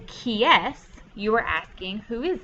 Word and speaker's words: qui est: This whole little part, whoops, right here, is just pronounced like the letter S. So when you say qui est, you are asking who is it, or who is that?